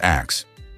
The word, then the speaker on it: ask: For instance, the word ask was actually pronounced as axe.